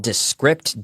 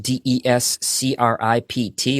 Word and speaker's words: Descript: There is a platform that I have used called Descript, Descript, or Descript, if you want to say it phonetically.